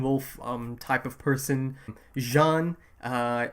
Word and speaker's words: Jean: um type of person Jean uh it's spelled like J A an so it's like Jean but like they pronounce it Jan uh rer rer the